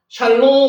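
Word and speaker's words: שָׁלוֹם: 그러면 쉬의 아 하면 뭐예요? 샬입니다. 샬롬 할 때 샬롬이거든요. 샬롬. 요게 여기다가 단어 스펠 위에 점 있으면 오 발음이다 그랬죠. 리얼의 오 발음하고 미험하면 롬입니다. 샬롬.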